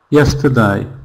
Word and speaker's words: yesterday: E R in this in this word not stressed. It's the schwa sound. Yesterday. Yesterday. Mhm. So all the power and strength is in the stressed syllable. Yes. And the rest is weak.